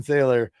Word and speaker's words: Thaler: realized after the show, John Thaler really rhymes with Sean Taylor.